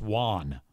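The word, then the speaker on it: Wone: an Asian dude, and he spells it W-O-N-E, I think. Looks like one. Looks like one with a W, like if you were to say the number one with a W, but it's pronounced Juan.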